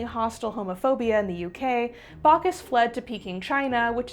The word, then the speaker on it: Backhouse: One hoax that seriously cracks me up is a guy named Sir Edmund Bacas, whose name is spelled back house, but is pronounced Bacas, which honestly is more fitting for the deal this guy had going on.